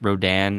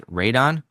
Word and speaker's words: Rodan: For instance, everyone pronounced Rodan as Radon, which is how it's spelled in the original Japanese. But we all know, at least in English, that's not how you say the creature's name.